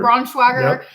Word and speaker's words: Braunschweiger: I mean, how do you pronounce Braunschweiger? Braunschweiger.